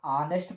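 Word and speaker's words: honest: जैसे अगर हम लिखे ऑनेस्ट, क्या लिखे, ऑनेस्ट, बहुत सारे बच्चे इसको हॉनेस्ट पढ़ेंगे, लेकिन नहीं बच्चों, जो एच होता है हमारा साइलेंट होता है। क्या होता है, साइलेंट होता है। इसको क्या पढ़ेंगे, ऑनेस्ट पढ़ते हैं।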